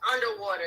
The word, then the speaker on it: UNDW3: Oh, it's underwater. That's how they. Okay. That's how they pronounce. So it's spelled. Since y'all can't see it, it's UNDW3. Okay. And they're saying that it's pronounced underwater.